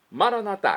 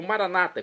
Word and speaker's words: Maranatá: Maranatá, como dizemos nós católicos, ou Maranata, como dizem nossos irmãos separados, os evangélicos ou protestantes. Não importa a pronúncia, o significado é o mesmo.